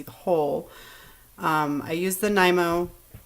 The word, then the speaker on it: Nymo: I use the Nymo D. I don't know how everybody else pronounces it. I pronounce it Nymo.